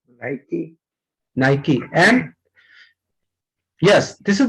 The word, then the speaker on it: Nike: Pronunciation of this, as money Singh said that, नाइकी. नाइकी. Okay, नाइकी इज the real pronunciation.